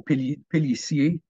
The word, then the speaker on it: Pelissier: Okay, so the ER at the end of a word in French is pronounced A, so Pelissier. Why they make a sh sound instead of the S sound, I think it just gets kind of assimilated.